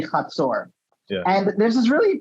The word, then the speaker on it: Hatzor: the confederation of Hatzor, which in English you might want to pronounce as Hatzor or something like that. Hazard, maybe. Hazor, but in Hebrew it's going to be Hatzor.